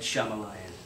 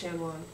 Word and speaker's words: Shyamalan: Night Shylamalan. Yes. but it's pronounced Shyamalan.